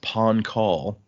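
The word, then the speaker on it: Pahn Kahl: It's uh I believe it's pronounced pawn call and it is a nationality or a nation.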